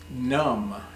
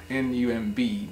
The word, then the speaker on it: numb: the tree that's limb num nu MB num num num which means it has